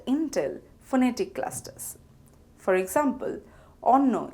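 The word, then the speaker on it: অন্ন: For example, onno is pronounced as on no and nobanno is pronounced as noban no.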